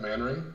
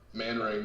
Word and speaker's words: Manring: Manring. Manring? Manring, man with a ring.